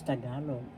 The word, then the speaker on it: Tagalog: know how to pronounce tagalog. Tagalog. First syllable ta. Second syllable ka. Third syllable log. The accent is in the second syllable.